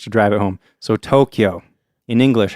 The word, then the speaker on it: Tokyo: So if you're looking at the word Tokyo in Japanese sounds, you got to, o, kyo, o. So it's actually 4.